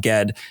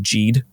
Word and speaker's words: Ged: Because like, as much as I love Ged and as much as I love Earthsea, by the way, the first time I read that, the whole time I pronounced him Gede.